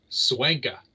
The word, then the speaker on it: Swanka: Charlie, how do you say his last name? Swanka.